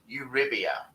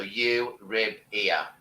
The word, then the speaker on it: Euribia: The easiest way to say it is think of euro as in the European currency euro, Euribia. So Euribia.